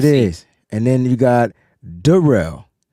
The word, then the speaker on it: Darrell: That's how it's pronounced. There it is. And then you got Darrell, right? Darrell.